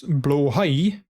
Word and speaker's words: Blåhaj: Now we know how to properly pronounce blåhaj in Swedish. I think you also have to, like, have a bit of, like, blåhaj. Oh, hi. Oh, hey. So you say it a little faster. Blåhaj.